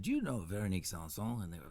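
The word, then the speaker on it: Véronique Sanson: Only because I don't have the pronunciation skills that you have. No, that's cool, man. Veronique Sanson.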